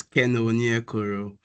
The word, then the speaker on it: Keno Onyekoro: you did pronounce it very well. So it's Keno Onyekoro.